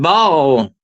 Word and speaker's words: Baal: Baal, B-A-A-L, the god Baal, or some people pronounce it Baal.